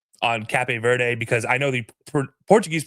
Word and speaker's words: Cape Verde: But American English, which is what I know, is Cape Verde. That is literally how it's pronounced.